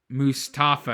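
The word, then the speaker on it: Malik Mustapha: You just watch the tape, and he's just Mustafa is actually how I pronounce it, but he's just a great fit.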